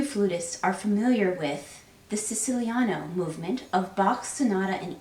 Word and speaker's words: Siciliano: of this piece, or I should probably say it at least one time in Italian pronunciation, Siciliano, because this is a movement that evokes Sicily.